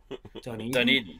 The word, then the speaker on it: Dunedin: Dunedin.